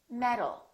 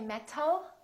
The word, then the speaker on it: metal: automatic we say automatic metal we don't say metal we say metal therefore this word metal sounds exactly like this word metal metal these two sounds